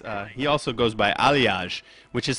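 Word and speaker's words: Aljaz: he also goes by alage which is spelled a LJ a z so everybody calls him Al Jazz which is totally wrong I mean it's his first name it's pronounced alage um but we can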